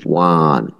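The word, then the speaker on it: one: ও এর উচ্চারণটা হয়েছে ওয়া এর মতো, ওই ওয়া। যে বলছেন ওয়ান, ওয়ান, টু, আমরা যে বলি সেরকম, যে ওয়া।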